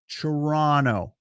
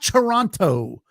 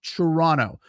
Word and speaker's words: Toronto: There is only one T in Toronto that you pronounce. Toronto. It's not Toronto. It's Toronto.